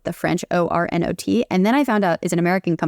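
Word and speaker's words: Ornot: thought it was pronounced or no like the French o r n o t and then I found out it's an American company and it's actually just pronounced or not so their slogans are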